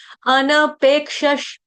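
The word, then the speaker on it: अनपेक्षः: ध्यान देंगे थोड़ा सा देखिए अनपेक्षस अन अ पूरा न पूरा इसको अन्न नहीं पढ़ देगा कोई गलती से अन्न मैं अन्न खाता हूं अन्न नहीं है ये अन अ पूरा न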